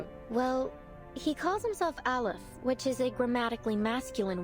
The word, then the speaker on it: Aleph: Aleph, that's how you say his name.